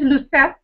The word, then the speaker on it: Lucette: But yes, my name is Lucette, with a silent E.